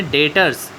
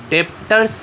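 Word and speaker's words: debtors: हाँ, वापस से सुनो क्या बोला मैंने, डेटर्स। बी साइलेंट है, डेप्टर्स नहीं बोलोगे, क्या बोलोगे, डेटर्स, क्रेडिटर्स।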